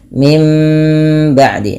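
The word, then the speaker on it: من بعد: bertemu dengan huruf ba Apabila ada nun mati bertemu dengan ba suara nunnya dirubah menjadi suara mim ya maka baca mim ba'di nah cara baca iqlab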